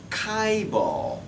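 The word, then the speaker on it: chaebol: it's nasty english word this word is properly pronounced as kaibal kaibal is the korean corporate structure system kaivo okay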